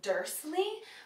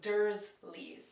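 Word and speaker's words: Dursley: with an S like dle but it's actually with a z so durle next is Ronald Weasley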